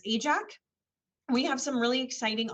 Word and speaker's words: AJAC: aerospace joint apprenticeship committee easier to pronounce and remember us as ajax we have some really